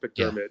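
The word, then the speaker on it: McDiarmid: I thought it was It's spelled It's spelled weird, but it's pronounced McDermott.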